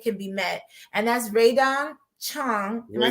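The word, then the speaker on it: Rae Dawn Chong: And that's Raydon Chong.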